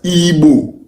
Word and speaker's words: Igbo: Our ancestors did not call themselves Ndebo. No. We call ourselves Igbo, ancient people. Now, the white people cannot pronounce Igbo. That's why they wrote it as Igbo.